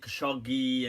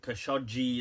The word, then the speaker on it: Khashoggi: Some people pronounce it Khashoggi and Khashoggi as well. I'm not sure exactly. I've seen the Arabic and it seems to be Khashoggi, like that.